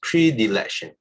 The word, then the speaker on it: predilection: in favor of something so this is pronounced as predilection prediction okay emotional predilection influence fields